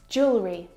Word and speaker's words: jewelry: pack my clothes tonight Jewelry jewelry jewelry again we've got an extra vowel here that we don't need to pronounce we don't say jewellery